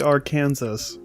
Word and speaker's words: Arkansas: we make fun of it because it's actually Arkansas it's Arkansas I'm sorry Kansas your state's called